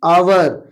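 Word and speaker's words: hour: यहां पर भी फर्स्ट लेटर आपका एच है जो कि ये कंसोनेंट है बट ये साइलेंट है। इसकी साउंड नहीं आ रही है। इसको पढ़ा जा रहा है एन आवर। आवर आ की आवाज आ रही है।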